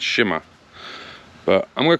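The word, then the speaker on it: Cima: From what I'm told, it's actually Sima. So like a SH sound. It's not Sima, it's Shima.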